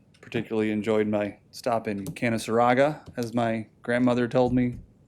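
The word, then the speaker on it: Canaseraga: get to tell the second graders it is canon saraga and they argue with me and then i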